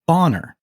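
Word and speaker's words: Bonner: his last name was boner okay boner b o n n e r no mistaking the pronunciation right but if you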